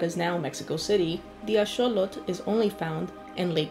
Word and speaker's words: axolotl: Today we're going to be talking about the axolotl, pronounced axolote by modern-day Spanish speakers, and which derives its name from the Aztec god Xolotl.